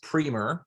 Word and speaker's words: Primer: a good question so it's pronounced primer so just pretend it's like p-r-e-e and you'll you'll get through it's funny because i'll